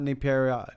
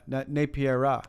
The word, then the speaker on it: Napiera: your name yeah napiera yeah not napiera napiera Wang emphasis is the wrong syllables yeah syllables yeah yes